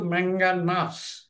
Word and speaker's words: ম্যাঙ্গানাস: টু আর ম্যাঙ্গানাস sulphate ম্যাঙ্গানাস উচ্চারণটা কিন্তু ম্যাঙ্গানাস তোমার ম্যাঙ্গানাস সালফেট সালফেট